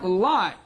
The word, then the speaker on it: climb: Climb. Here, B is Silent.